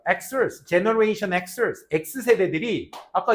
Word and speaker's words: Xers: 그래서 요 X세대들은 Xers라고 읽어. Xers, Generation Xers.